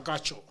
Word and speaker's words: Agacho: Agacho, right? That's how you pronounce it?